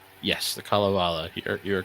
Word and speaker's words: Kalevala: I'm going to butcher the pronunciation, but the Kabbalah. Yes, the Kalevala.